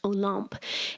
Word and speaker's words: Olympe: Olympe is spelled Olympe, but in French, it's pronounced Olympe.